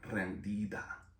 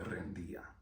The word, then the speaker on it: rendida: Instead of pronouncing D's really hard, they're really, really, really soft D's. So when you hear it, she doesn't say rendida, she said rendía.